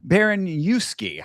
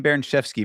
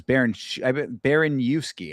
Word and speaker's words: Baraniewski: This was Ivo Baraniewski. I keep saying Baranchevsky, but it is Baraniewski, I believe is our Baraniewski.